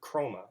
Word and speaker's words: chroma: from a Greek word chroma again a silent H kind of like in the word chord and chroma means color